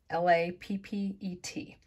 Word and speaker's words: lappet: And someone commented that it was called a lappet, L-A-P-P-E-T. And I listened to the pronunciation and that's how they said to say it, lappet.